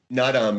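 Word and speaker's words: Naadam: I'm not sure how to pronounce it. Nadam? Nadam, yeah.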